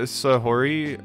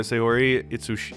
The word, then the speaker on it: Sahori: wouldn't mind yo hey do you know sahuri uh sayori god i gotta get used to that name it's like three syllables i just passed her